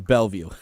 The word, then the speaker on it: Bellevue: It is Bellevue. Bellevue, Kentucky. Bellevue, Kentucky. So of all the names you want to pick for some unique place in Kentucky. Coming to you straight from Bellevue, Washington.